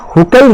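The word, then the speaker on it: Hückel: है, aromatic compound हमेशा हुकेल rule को फॉलो करता है। हकेल रूल भी करते हैं, कई जगह इसे हुकेल भी प्रोनाउंस करते हैं, हम इसे हकेल प्रोनाउंस कर रहे हैं।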